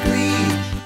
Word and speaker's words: Klee: My name's not Klee, it's Klee. It's spelled like Klee, K-L-E-E, but it's not pronounced that way.